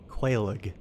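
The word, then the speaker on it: Quelaag: I I killed uh so my first boss that I killed in New Game Plus was uh uh Quaig, as I've learned it's pronounced.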